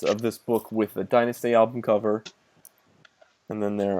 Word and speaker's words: Dynasty: It's exactly the same, but we pronounce it Dynasty, which is the correct one. So, you mispronounce it Dynasty.